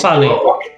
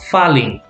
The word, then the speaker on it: falling: And remember, AL, the sound is all, not al, all, falling.